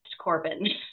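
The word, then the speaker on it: Corbon: of Bowen and Brock's names awesome but it's pronounced Corbin so c o r b o n wow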